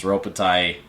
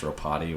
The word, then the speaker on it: Ropati: But you had, and I mean everyone knows Ropatai, and then Ropati. That blew my mind. I think it's actually pronounced Ropati, which I thought it was Ropatai this whole time.